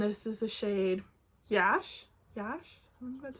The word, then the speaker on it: Yash: be different and this is the shade Yash Yash that's how you say it this is like